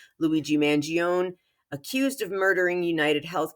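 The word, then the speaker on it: Mangione: trial speaking of Trials Luigi Manon yes I am an Italian-American from New York that's how I pronounce it Luigi mangion accused of murdering United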